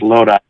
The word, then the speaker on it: Lodi: He's from Lodi, I think it's pronounced, California, from Central Cal. It's Lodi. How do you pronounce it?